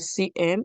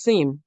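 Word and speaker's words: SIEM: You said CM. It is SIM.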